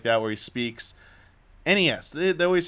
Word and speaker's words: NES: He said, Iwata says, NES Remix. Like, any chance you can get it. Might not be the best pronunciation. It might be a little hard to say sometimes, but it is clearly NES, not NES.